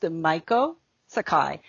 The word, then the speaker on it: Maiko Sakai: of that, I hope, but it's pronounced Maiko Sakai. And I'm based in New York currently, and I run a business strategy company for service business owners specifically.